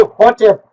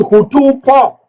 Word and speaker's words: Hotep: They want to say hotep. We disagree and we say it's hutupo.